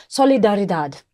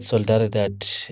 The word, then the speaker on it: Solidaridad: The word Solidaridad it's a Spanish name for solidarity. Because our work started in Latin America, hence the Spanish pronunciation.